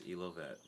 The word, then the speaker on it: Elovet: So I'm here with Elovet. Am I saying that right? Yeah, it's Elovet.